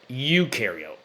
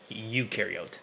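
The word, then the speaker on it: eukaryote: So, proariote ukareote is how you pronounce those. Proariote, ukareote, not yote.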